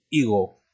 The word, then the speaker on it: higo: Otra palabra tenemos, por ejemplo, la palabra higo, ¿no? También se escribe con H esta palabra, pero no se pronuncia la H, ¿de acuerdo?